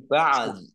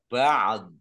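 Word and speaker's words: بعض: Nah ini ba'd. Ini ada ainnya sukun, do-nya juga dibaca sukun karena wakof, maka membacanya antara ain dan do. Ba'd.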